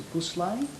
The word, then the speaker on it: gusle: present an instrument which I am told is pronounced a gusle.